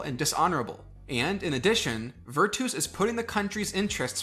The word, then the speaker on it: virtus: The Romans also had their own ideas, such as virtus, or virtus if you're a reconstructed pronunciation kind of person, which means manly virtue.